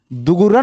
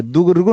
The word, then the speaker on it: दुर्गुण: दुगुरन नहीं होता है, दुर्गुण होता है, दुर्गुण दुर्गुण।